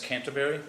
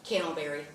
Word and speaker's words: Candleberry: And that's Miss Canterbury? That's correct. Is that, am I saying it right? Candleberry. Candleberry. Yeah.